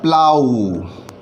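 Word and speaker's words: plough: और यहाँ पर इसका जो मतलब है, इसका जो उच्चारण है वो है प्लाऊ।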